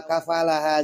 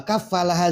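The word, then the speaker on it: كفّلها: Nah, ada juga yang membacanya tanpa tasdid di atas huruf fa-nya. Wa kafalaha langsung. Wa kafalaha Zakaria. Nah, kalau pakai tasdid seperti di mushaf kita, wa kafalaha Zakaria, yang menjadi failnya adalah Allah.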